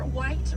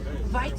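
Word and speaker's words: wyd: Original word for white rhino was vite. Vite means wide in apricot, but over time it was misheard and mispronounced and it turned into the white rhino.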